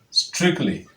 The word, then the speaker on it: strictly: to handle it is go ahead take the sound represented by that letter T and pronounce it this way strictly strictly strictly that is what you